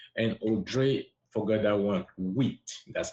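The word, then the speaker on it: huit: Wheat.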